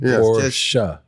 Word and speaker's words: Porsche: Like how do you pronounce it? And I'm like it's a family name. Porsche.